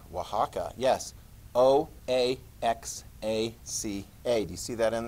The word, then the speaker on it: Oaxaca: population it's called oaxaca you're like oaxaca yes o a x a c a do you see that in there i had no idea that was pronounced oaxacan until somebody actually told me that that's pronounced